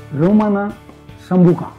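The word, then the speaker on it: Romana Sambuca: अब अगली जो लिक्योर है वो है ये रामोना सांबाउक, यानी इसका प्रोनाउंसिएशन अगर हमें करना है तो देखिए कैसे करेंगे। रोमाना संबुका। ये जो लिक्योर बनी है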